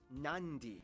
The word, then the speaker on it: Nadi: And just remember, in the Fijian alphabet, C makes the th sound, D makes the nd sound, B makes the mb sound.